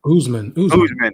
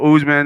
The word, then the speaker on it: Usman: you and and and i want to say usement but it's not oozman oozeman right so usman and then we got